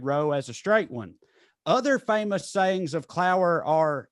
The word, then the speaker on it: Otha: And it says the Clower family had 5 members, including mother Mabel Clower, father Otha Carl Clower, but it's spelled O-T-H-A. So Other Carl.